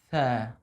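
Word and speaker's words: ث: See, my tip of tongue are out. Tha, tha. MashaAllah, MashaAllah. Very, very good. Can you please remind me two things to keep in mind? Yes. Perfect. First, to keep a slight smile. Tha. Second, to open.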